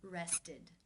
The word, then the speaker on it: rested: The final sound of the verb in the infinitive form is the D sound.